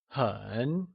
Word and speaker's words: 很: 很 is said with a falling, rising tone, or the third tone.